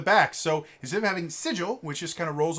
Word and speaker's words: sigil: i know it's so technically the official pronunciation is sigil i hate that it's such a dumb ninja it doesn't roll off the tongue very well sigil see the thing with sigel um s i and l are all at the front of the mouth and you pronounce them